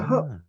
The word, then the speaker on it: Hope: Because a hop is a bay enclosed within a bay. Right? For example, we have here the play named St. Margaret's Hope, in Orkney, right? Pronounced by everybody as simply the Hop?